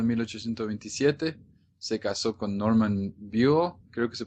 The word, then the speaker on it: Buell: Y a los 16 años, el 6 de enero de 1827, se casó con Norman Buell, creo que se pronuncia. Buell, sí.